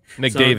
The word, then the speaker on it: McDavitt: Nope, but that's McDavitt. So think of David.